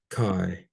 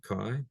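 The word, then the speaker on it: καί: So there is a word chi. So kappa plus alpha iota, where there's a diphthong pronounced I. So chi.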